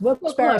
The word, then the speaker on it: Wilkes-Barre: It's pronounced Wilkes-Barre, Scranton area.